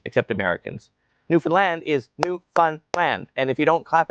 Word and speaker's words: Newfoundland: The big city in Ontario is pronounced Tronna. Tronna. Nobody says the second T except Americans. Newfoundland is New Fun Land.